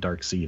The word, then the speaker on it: Darkseid: Ninja Steve says it is pronounced Darkseid.